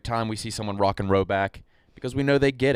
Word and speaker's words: Rhoback: Roback performance hoodies are quite possibly the softest hoodies we own.